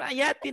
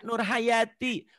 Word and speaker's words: Nur Hayati: Halo namanya siapa Bu Nti bukan Ayati Nama saya tapi nama saya Nur Hayati bukan Nur Ayati Oh